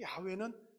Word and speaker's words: 야훼: 근데 진정한 야훼의 발음은 무엇이냐라고 했을 때 이겁니다. 우리가 이름으로 소리로 야훼 이렇게 하는 것이 아니고 실제로는 어떻게 하는 거냐면 이게 야입니다. 이게 회입니다. 그래서 이 야훼를 발음하는 정확한 발음은 인간이 숨을 내쉬고 들이마시고 할 때 나는 소리가 야훼예요. 이게 야훼예요.